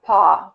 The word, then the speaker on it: paw: It rhymes, okay? Paw and saw. I think they rhyme.